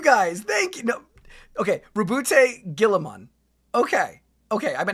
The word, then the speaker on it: Roboute: One, the Ultramarines are not as actual pronunciation. Roboot Gillaman. Okay. Oh, no. Rabbout. It is Rabbout.